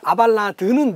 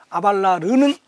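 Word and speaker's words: Abélard: 가면 미국 사람들 싫어하니까, 그 아발라드는 미국식 발음이에요. 그리고 그 아발라르는 그 불란서식 발음이고, 그 라틴어는 아벨라르투스.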